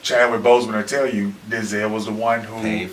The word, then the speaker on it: Denzel: We say it wrong, but it's Denzel.